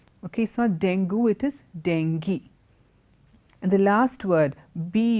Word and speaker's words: dengue: of people down with this thing it's not dangu this grounds dengue it is not then go okay so dangu it is dengue and the last word be you are why